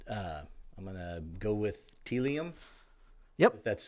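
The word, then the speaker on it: Tealium: on our list uh I'm GNA go with telium yep that's how you pronounce it so yep telium um they really so I talked about how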